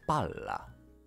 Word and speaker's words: palla: about Double L again you pronounce it as Allah or yo it's l it's not yo it has never been your for example we have Pala yeah which has means